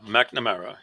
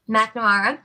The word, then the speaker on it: McNamara: McNamara. Is that how you pronounce it? Yeah, McNamara. Yep. McNamara.